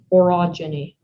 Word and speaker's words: orogeny: you repeat the word one more time erogeny orogeny o r o g e n y orogeny that is correct that's the end of